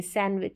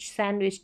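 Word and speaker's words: sandwich: है हैंड करची फिर सैंडविच नहीं सैंडविच सैंडविच डी का साउंड नहीं आएगा साइलेंट रहेगा तो इस तरीके से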